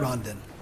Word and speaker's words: Rondon: Nicholas Kuczynski, representing the Office of the tell me the proper pronunciation of Rondon? Is it Rondon? Rondon.